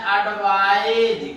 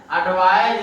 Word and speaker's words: advise: ये नाउन है, लेकिन हम एडवाइस लिख देते हैं, ADVISE, तो इसको हम पढ़ते हैं एडवाइज। क्या पढ़ते हैं? एडवाइज।